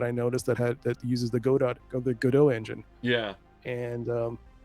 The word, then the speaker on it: Godot: Godot, is that how you say it? Yeah.